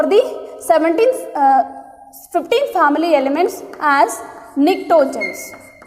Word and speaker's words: pnictogens: The name for the 15 family elements as pnictogens. Yeah, P is silent.